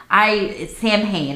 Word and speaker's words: Samhain: Somebody already told me how to say it. Samhain. I'm going to say it like that.